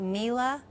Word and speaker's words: Miele: Okay, now you have a long-standing allegiance with, am I saying it right, Miele?